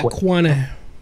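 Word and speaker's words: Qeynos: cuos if you know quos I'm purposely mispronouncing it now because everyone keeps beating me up M fact the S is silent oh yeah quo quo um it's it's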